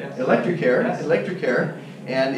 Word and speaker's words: Electrecare: Is that how you pronounce Electrecare, it? Electrecare, yes.